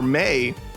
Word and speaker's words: Mai: It's pronounced May. It is absolutely not. Is her name May? It's not Mai, like My Valentine from Yu-Gi-Oh!